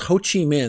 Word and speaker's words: Ho Chi Minh: guy right here this guy is name is Ho Chi Minh that's how you say his name Ho Chi Minh's kind of the grandfather of communism in Vietnam